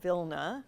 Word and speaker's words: Vilna: grammar the last Yiddish speakers of vilna which is how you say it in Yiddish who are now in